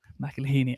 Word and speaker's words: McElhinney: yeah sure fairly spectacular don't know it's uh mcelhini i see i can say it when you